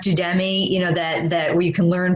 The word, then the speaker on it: Udemy: I mean, I know, before I had mentioned, I think it's pronounced Udemy, that where you can learn basically anything.